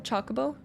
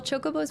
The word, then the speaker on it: Chocobo: it a little bit I think it's Chocobo Chocobo I think you would say chalk more than Cho but I always say Chocobo um all right favorites